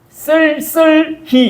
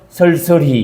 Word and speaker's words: 쓸쓸히: 경상도 사람 제일 발음 못하는 게 쓸쓸히 이 발음을 아무도 못해. 경상도 사람은 쓸쓸히 이거를 보통 어떻게 발음하면 아시죠? 설설히 이렇게 발음한다.